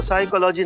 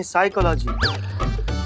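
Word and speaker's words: psychology: तो साइकोलॉजी नहीं साइकोलॉजी P silent होता है।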